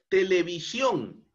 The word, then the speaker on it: televisión: Otro ejemplo, televisión, televisión, ¿no? Es una palabra aguda porque el mayor impulso de voz se encuentra en la última sílaba, que además termina en consonante N, por eso es tildada, on.